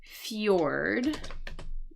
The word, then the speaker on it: fjord: interesting very interesting um cuz it sounds like Fjord like a like a